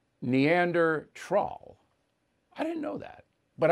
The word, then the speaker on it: Neanderthal: going to call them neanderthals that's what biden called them now that was given to him he didn't make it up and he mispronounced neanderthal which i did too it's neander troll i didn't know that